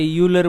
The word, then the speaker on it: Euler: अगर यही चीज़ पहली बारी तुम्हें कोई साउथ इंडियन पढ़ाता तो शायद वो इसको आयलर बोलता और तुम भी इसको फिर आगे आयलर ही बोलने लग जाते. और अगर कोई नॉर्थ का मतलब बंदा पढ़ाए जिसको शुरू से यूलर बोलने की आदत है, तो शायद उसके स्टूडेंट्स भी आगे यूलर ही बोलेंगे.